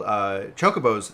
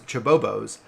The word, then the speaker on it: chocobo: I was growing up, I called chocobos chibobos. For some reason, I saw another B in there, and then somebody said chocobo, and it was like a glass shattering moment for me.